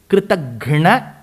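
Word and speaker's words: कृतघ्न: So there is a small difference in the subtle difference in the pronunciation. Kritagnya is grateful. Kritaghna is ungrateful.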